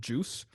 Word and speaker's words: Djoos: His name is Christian Juice. It's spelled like DJOOS.